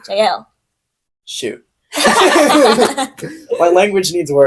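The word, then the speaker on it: Jael: It is Jail and the woman It's of not pronounced Tebez. jail, it's JL.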